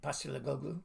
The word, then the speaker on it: Postecoglou: I can't pronounce his name. Postecoglou.